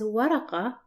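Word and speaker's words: ورقة: While paper, which is pronounced as waraqa, the ta letter is connected to the letter before it, and that's why it's shaped like this.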